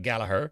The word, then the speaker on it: Gallagher: it does it's an unusual spelling of galagher or as the Irish pronounce it galaher but if you'll kindly